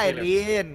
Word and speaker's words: Irene: Oh, bacanya Irin.